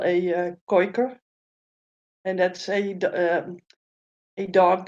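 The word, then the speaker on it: Kooiker: We will have what we call a Koiker, and that's a a dog that's sort of handy with catching ducks. So yeah, A goiker? Is that what you called it? Koiker. Koiker. Spell it. Kooi-K-E-R. Oh, a koiker.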